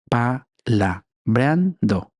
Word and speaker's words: palabreando: Palabreando. Aquí la sílaba tónica esando. Palabreando.